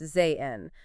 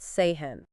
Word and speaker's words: sehen: As we were saying before, when an H directly follows a vowel, it's usually silent, like in Zane, meaning to see, pronounced Zayn, not Sehen.